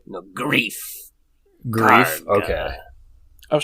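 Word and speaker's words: Greef Karga: Okay, because I was about to pronounce it Grief Karga, but it's Gruff Karga, right? No, Grief.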